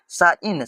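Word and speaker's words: sign: भाई तो यहां पर जी को हटा देंगे तो यहां पर सिर्फ बच रहा है साइन साइन मतलब हो जाता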